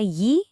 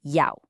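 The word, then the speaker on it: 幺: I did not say ye, which is the standard textbook pronunciation we all learn on day one. I said yao.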